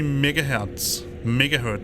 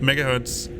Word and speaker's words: megahertz: And it was a 486 33 megahertz, sorry, that was a Danish pronunciation, megahertz, with 4 megabytes of RAM and 270 megabytes of hard drive space.